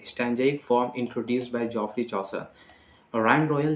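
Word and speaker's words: Chaucer: था तुम्हारा चौरी चौसर साहब किया थे इसे चौसर कहते हैं ठीक है जिफरी प्रोनंसिएशन में सुधार करना है अगर जिसको प्रोनाउंस सही नहीं कर पाते हैं जप चस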